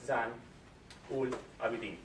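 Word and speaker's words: Zain Ul Abidin: Zan Ul Abidin. Did I pronounce it right?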